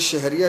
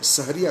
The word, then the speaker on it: सहरिया: शहर को भोजपुरी में स प्रोनाउंस करते हैं, स उच्चारित करते हैं, इसलिए शहरिया शहरिया नहीं, मैं सहरिया सहरिया गा रहा हूँ।